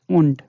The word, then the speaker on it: und: I have already told the meaning of und, that is and in English. So here this should be ideally und, but this is not und. This becomes t. The sound comes t, und.